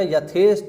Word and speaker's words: यथेष्ट: देखेंगे यथेष्ट अब देखो ध्यान रखना यथेष्ट है अंत में ट लगा हुआ है ठ नहीं है लोग क्या पढ़ते